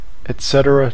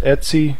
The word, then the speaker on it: etc: reference it as the ETC directory uh you might find somebody who does but it's generally pronounced Etsy amongst Linux enthusiasts and users some people will simply